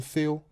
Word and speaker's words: Thiel: Am I pronouncing your name correctly? Thiel. Thiel. Yeah, that's Thiel.